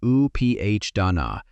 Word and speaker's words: upādāna: The Pali word that English translates as "clinging" or "attachment" is upādāna — pronounced oo-PAH-da-na.